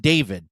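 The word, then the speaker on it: D4vid: It's pronounced David but with the four instead of the A in David.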